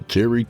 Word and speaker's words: Terrye: And that was Remember You Must Die by Terrye Turpin, pronounced Terry.